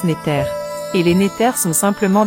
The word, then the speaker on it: NTR: Remarque, la nature est dérivée du mot kémétien NTR qui se prononce Néter.